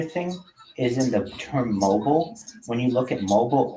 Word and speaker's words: Mobil: So instead of saying mobile, which was an issue in which they were running for a long time, where people would say mobile oil, like Mobile, Alabama, they changed the O to